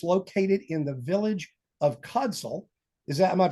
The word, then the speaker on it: Codsall: It's located in the village of Codsall. Am I pronouncing that right? Is it Codsall?